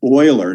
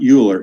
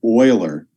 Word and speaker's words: Euler: for a guy's name his name which is pronounced euler not euler it's pronounced euler he was a huge mathematician in the 1700s